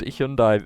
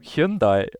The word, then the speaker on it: Hyundai: Because to me, that car brand has always been pronounced Hyundai. But like recently, they did an ad campaign about it pronouncing it Hyundai, which is how it's actually pronounced in Korea.